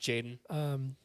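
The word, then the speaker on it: Tjaden: Isn't it Jaden? Just Jaden? Just Jaden. With a T at the beginning. Yeah. But I think it's pronounced Jaden.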